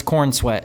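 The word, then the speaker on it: Corenswet: Swear to God, his name it's Coren Sweat, but it's Corn Sweat. It's pronounced Corn Sweat.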